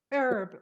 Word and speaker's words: herb: Yeah, a new herbal extract can help dieters tremendously. Yes. But what is the secret about this herb? Yes, herb or also herb, but it's mostly herb.